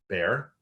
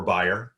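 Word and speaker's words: Bayer: in renee's role at bear or buyer depending on how you pronounce it renee has over 23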